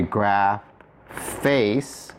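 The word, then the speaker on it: ἐγράφης: If you were written on my heart, it would be a graph face. So again, not face, but face. The theta drops.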